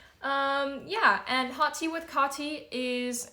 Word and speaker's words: Kaatii: Yeah, and hot tea with Kaatii is not just a cute little name, it's also a really smart way to remember how to pronounce my name, because hot tea, Kaatii, very similar.